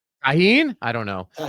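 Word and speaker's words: Tajín: Taheen. Tahin.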